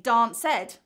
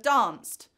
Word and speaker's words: danced: So you may hear students say dance ed instead of danced, or jump ed instead of jumped, or walk ed instead of walked.